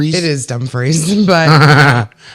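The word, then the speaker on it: Dumfries: I think it's actually pronounced dumbfree. It is dumb freeze.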